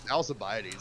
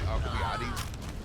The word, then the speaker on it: Alcibiades: Alcibiades isn't how you're supposed to pronounce it. It's really Alcibiades.